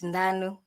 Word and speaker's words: Ndanu: Ndanu. Good afternoon. Have I pronounced it properly? It's Ndanu.